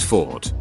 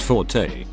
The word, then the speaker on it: forte: used to refer to someone's strong suit is pronounced Ford it's a French noun related to the strong part of a sword play near the hilt Forte pronounced Forte is an Italian adjective meaning loud strong but